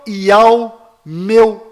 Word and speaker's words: Iau: sabachthani, que significa meu Iau, por que me desamparaste? E alguns do que ali estavam, ouvindo isto, diziam: este clama por Elial, Elias. Repare, a pronúncia Iau é facilmente confundida com Elial.